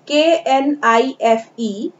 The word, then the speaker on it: knife: Next spelling is KNIFE, but we will not read it with K। हम इसे K से ना पढ़ के N से पढ़ेंगे, knife। K is a silent letter here।